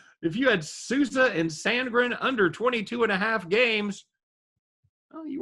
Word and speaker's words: Sandgren: So if you had, what is that, Sousa and Soundgarden? John Philip Sousa and Soundgarden? No, Sousa and Sandgren.